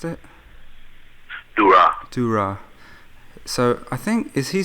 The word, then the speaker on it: Durrah: David Durrah, was that how you pronounced it? Durrah.